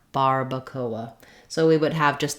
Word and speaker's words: barbacoa: is just fairly straightforward in English when we have an R we use the American R like bar Barbacoa so we would have